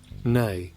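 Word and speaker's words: née: Anyway, um, so uh, so n definition. So I'm pretty sure that just means uh, pronounced nay. Nay, nay.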